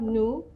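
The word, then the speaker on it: nous: and l means she we have no which means we we don't pronounce the last letter the s then we also have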